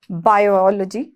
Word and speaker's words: biology: बायोलॉजी, बायोलॉजी, ठीक है, बायोलॉजी भी बोलते हैं यहाँ पर, लेकिन इसकी सही प्रोनाउंसिएशन होती है बायोलॉजी, क्या, बायोलॉजी।